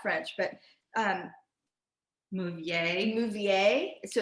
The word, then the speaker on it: Mauviel: We don't really know how to say the names because we're not French, but Mouvier. So it's Mauviel is a iconic French manufacturer that's 7 generations in on making copper pots.